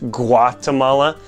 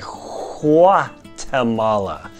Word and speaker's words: Guatemala: there in the language they don't really say a hard G like we do in English Guatemala instead they say qua Tamala and that's about as